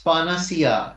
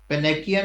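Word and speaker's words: panacea: Then the word is पानासिया, it's pronunciation that is पानासिया, पेनेकिया नहीं है, या पेनेशिया नहीं है, इट्स पानासिया, पानासिया।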